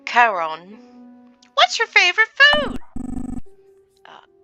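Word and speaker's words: Charon: your name is Carl it's the Greek mythological pronunciation so Caron what's your favorite food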